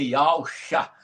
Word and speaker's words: Yausha: E a pronúncia exata do seu filho é Ial Chá.